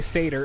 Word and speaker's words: Seidr: cider worker that way i should just say seder instead of saying instead of trying to say it like the the ancient norse way because then it sounds like i'm saying like cider like apple cider so as you can